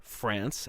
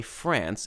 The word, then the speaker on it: France: the modern states of France and Germany, respectively.